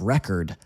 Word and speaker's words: record: Some words are nouns and some words are verbs even though they're spelled the same way and we need to say them differently. Look at the noun of record. That's a record. That's a record. Now listen to the verb form.